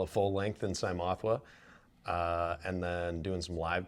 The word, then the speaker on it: Cymothoa: So Cymothoa, that's how you say it because people always can't pronounce the name correctly. Correct, that's how you say it. Cymothoa, just like it sounds.